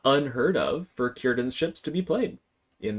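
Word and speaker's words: Círdan: I have heard anyone pronounce the card Kyan's ships as Seiran's ships. Um don't do that. That's not how it's pronounced. And you'll make Tolken cry.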